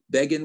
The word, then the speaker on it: Begin: Remember when Time magazine said Begin rhymes with Fagin?